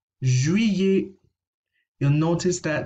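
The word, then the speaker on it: juillet: over the pronunciation july julie julie you'll notice that the ll here is being pronounced as if it were a y ikrec so this is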